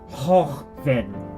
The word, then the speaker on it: joven: Joven. Joven. Ben, joven. Joven. Joven. You can hear in the Spain, in the Spain pronunciation, that it has more of a glottal sound to it. Hochben, hochben, hochben.